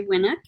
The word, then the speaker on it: Winuk: i'd like to welcome our special guest jay winnick founder of lake sherman's pronouncing it right winnick winnick yes very good